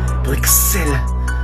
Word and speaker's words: Bruxelles: Alors comme ça, cher ami belge, vous n'aimez pas qu'on prononce le X de votre belle capitale? Et alors? Hein? Vous allez faire quoi si je le prononce? Hein? Bruxelles?